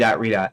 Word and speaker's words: Redot: gdo and I pronounce I still pronounce rot r dot because I decided that's